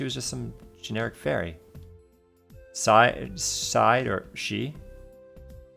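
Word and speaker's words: sidhe: Side or she? She says how you pronounce it, she.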